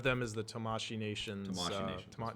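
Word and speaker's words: Tamashii Nations: Tamashi Nations, that's right.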